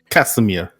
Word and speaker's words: Casimir: Yes, Casimir. Accent on the K.